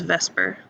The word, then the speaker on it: VSEPR: So this idea of the electron domains repelling one another is known as Vsepr Theory, commonly pronounced as Vsepr, although that's not really how it's spelled. Vsepr Theory is what everybody calls this, which stands for valence shell electron pair repulsion.